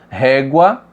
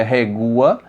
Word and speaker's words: régua: Régua, também não separamos porque a pronúncia não é regua, tá? É régua, é um som só, tá?